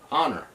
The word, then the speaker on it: honor: beer please all right honor these were a male honor or me on on their honor okay on earth don't pronounce that age is just longer just like doing right